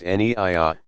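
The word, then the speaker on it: niyyah: with the clearly stated intention Naiya pronounced anyiah saying I intend to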